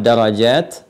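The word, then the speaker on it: درجات: Jika menggunakan huruf 'ta' terbuka seperti itu, maftuhah, dibaca dengan 'at' di akhir, darajat, ya. Jika 'ta' adalah marbutah, tertutup, Anda membacanya Rafi'ud Darajah, yang berarti tunggal.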